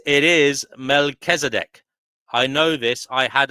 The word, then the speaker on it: Melchizedek: And Divine Hazel says it is Melchizedek.